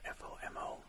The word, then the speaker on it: FOMO: The acronym FOMO, pronounced FOMO, stands for fear of missing out.